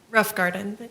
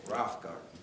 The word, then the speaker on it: Rothgarden: And what's uh Miss Melissa Rothgarden? Uh is that how to pronounce pronounce it for me? Rough garden. Rough garden.